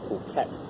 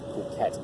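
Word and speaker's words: Phuket: ADT's this is pronounced protect the kept so pH is that H is silent so it's protect it's not something else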